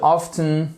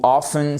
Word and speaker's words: often: We would often, ou often, c'est comme vous voulez, vous n'êtes pas obligé de prononcer le T, ok?